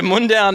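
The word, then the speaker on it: Mundaun: It's like Munich and then down, but it's not spelled like that. Uh, so Mundown is like a kind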